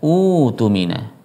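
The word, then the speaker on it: اؤتمن: Tetapi kalau dipisah membacanya adalah utumina. Utumina. Aslinya utumina. Kemudian hamzah kedua yang sukun diganti waw karena hamzah yang pertama harokatnya dhammah menjadi utumina.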